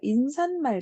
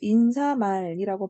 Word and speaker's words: 인사말: 인산말, 자, 이렇게 발음 안 해요. 자, 인사말이라고 발음하는 게 원칙이고요.